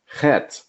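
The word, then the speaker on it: חית: Chet, Ch as in Bach.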